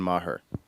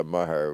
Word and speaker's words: Maher: Otherwise, it would have been Maher. Yeah. Right? That drove my mother nuts. Yeah. That Cashew. people was mispronounced. Yeah, Maher with the H in the middle.